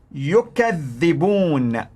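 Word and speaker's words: يُكَذِّبُونَ: Now listen to the pronunciation in Warsh. Yukadhibun, yukadhibun.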